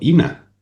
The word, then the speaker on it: Ena: emparentada Ina, eh, que yo no sé por qué le llaman Ena, pero yo siempre la he llamado Ina. Es Mm, Ina, porque en inglés es Ina. Bueno, porque como en español se escribe Ena, pues Claro, Claro, sí, claro.